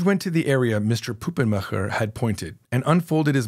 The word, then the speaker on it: Puppenmacher: "It's pronounced Puppenmacher," he responded, saying the name in a German accent.